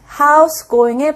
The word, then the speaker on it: How's it going: 무엇으로 표현할 수 있는가 How's it going How's it going How's going 이런 식으로도 표현이 되죠 자 원래는 How is it going인데 정말 줄임말로 짧게 말을 해서 하우스 going house going의 발음이납니다 뭐이 어때 뭐 요즘